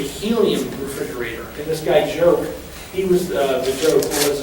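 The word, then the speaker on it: Giauque: his last name spell that's pronounced joke like French it's a joke so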